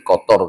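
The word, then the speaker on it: قطر: Nah, kalau negara itu punya pendirian yang kuat seperti Kotor kemarin ya, bahasa kita Qatar ya, aslinya bunyinya kotor. Orang Indonesia kalau mau ngomong kotor, negara kotor, kotor tuh nggak baik kan itu. Nah, lalu bacanya Qatar.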